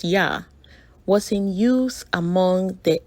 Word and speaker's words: Yah: The contracted form of the tetragrammaton Yud-He-Vav-He, pronounced YAH, was in use among the Ewe biblical Hebrew